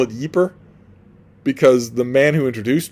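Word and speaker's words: Ypres: Uh, and it is about the first battle of I call it Yeper because the man who introduced me to it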